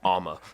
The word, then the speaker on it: Alma: I went into a podcast and they said Allen so that's a lot better than yeah Alma yeah that wasn't fun but you know Alma